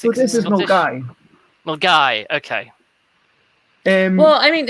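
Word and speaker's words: Milngavie: which is the Source, which most Americans can't pronounce. Which Source? Near Birmingham. But this one, Milgave?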